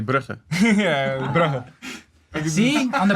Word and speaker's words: Brugge: And there's 2 G's in there, so we say Brugge. Yeah. Bruh. Whereas if he says it, it's completely different. Yeah. I would say Brugge.